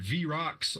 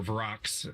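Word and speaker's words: vrock: and you get attacked by V rocks or varox if you want to say it wrong um demon creatures attack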